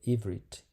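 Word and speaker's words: עברית: Então, a palavra hebraico, escrito no hebraico, disse ou se pronuncia ivrit.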